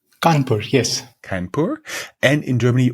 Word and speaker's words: Kanpur: India Institute of Technology in, how is it pronounced? Kanpur, yes.